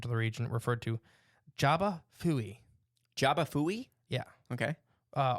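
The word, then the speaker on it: J'ba Fofi: go with that uh Jaba is also correct opinion on where you're at okay it's spelled the same way either way it's spelled with a J in the front it's just it's pronounced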